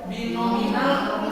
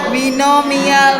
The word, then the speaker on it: binomial: Binominal monet apa? Nomor 8 ada tadi. Coba kita lihat. Binominal. Teret, bukan binominal. Binomial nomenklatur. Binominal nomenklatur. Mi, bukan minal ya, mial.